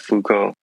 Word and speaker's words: Foucault: Yeah, I'm a fan of Foucault as no, well, not and that you're a fan of Foucault.